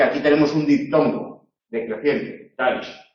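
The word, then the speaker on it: Daesh: es la daes sin embargo daish habría que pronunciarlo así daish es un monosílabo porque aquí tenemos un dictongo decreciente daish y al ser un monosílabo no tiene que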